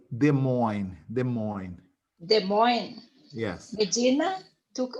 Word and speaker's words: Des Moines: No, we say Des Moines.